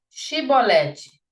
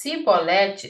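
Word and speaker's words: shibboleth: Eles falam para eles assim: "Diga chibolete". Se ele dissesse cibolete sem conseguir pronunciar corretamente a palavra, prendiam-no e matavam-o no lugar da passagem do Jordão.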